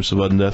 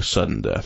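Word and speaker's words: SVDDEN DEATH: Because we all know that everybody wants to pronounce his name Savudden Death because that sounds better than boring sudden death, right?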